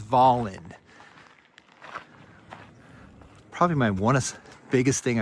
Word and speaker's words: Volin: is we look at a place like Voland, how do he pronounces it, Volen or Volin? He goes, "It's Voland."